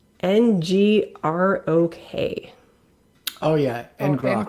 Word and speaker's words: Ngrok: It's spelled NGROK. Oh yeah, and Grok. Ngrok.